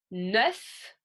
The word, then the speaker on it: neuf: Neuf, je prononce le F.